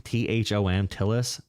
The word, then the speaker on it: Thom Tillis: Thom Tillis.